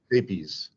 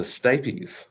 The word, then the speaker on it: stapes: They pronounce it stapes. The stapes.